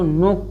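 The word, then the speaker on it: knock: है देखिए एन से पहले इसको नीड पढ़ेंगे नीड नीड इसको नोक पढ़ेंगे के साइलेंट रहेगा इसे नाइफ पढ़ेंगे नाइफ इसको नॉलेज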